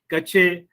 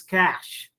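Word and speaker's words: cache: find these pronunciations similarly it is not kache it is cash similarly it is not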